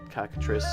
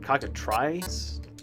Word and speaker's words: cockatrice: Cockatrice? That doesn't sound right. Try. Cockatrice. No, cockatrice. Yeah, tree. It's even though it's not like T-R-E-E.